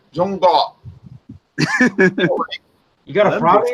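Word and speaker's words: 中国: But And then I asked her, how do you pronounce China? She says, pronounced Zhongguo.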